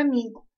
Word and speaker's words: amigo: Por exemplo, na palavra amigo, eu disse go. Se paroxítona é a penúltima sílaba mais forte, o mi é a penúltima, porque o último é o go. Então, mi é paroxítona.